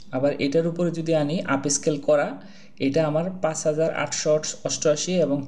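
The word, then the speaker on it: Upscayl: আপনি এখান থেকে Google এ চলে যাবেন যে আপস্কেলি Google এ লিখবেন স্পেলিংটা একটু অন্যরকম আপ এস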